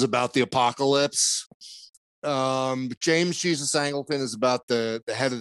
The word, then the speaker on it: Angleton: Angleton.